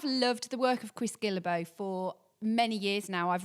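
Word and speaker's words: Guillebeau: Time Anxiety by Chris Gilbo.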